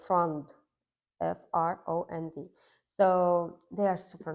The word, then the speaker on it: Frond: If you plan to buy a variegated pearly marks, and that's the Odd Fund, and it's spelled THEODDFROND. Oh, so it's frond, FROND.